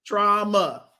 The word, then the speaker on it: trauma: Trauma. Mm-hmm. Trauma. Like trauma. Yes, 2 syllables.